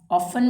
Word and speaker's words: often: He often, इसको often नहीं बोलना, ये क्या वर्ड है? often। इसमें भी टी हमारा साइलेंट होगा। ऑफन वर्ड है ये, अक्सर होता है इसका मतलब।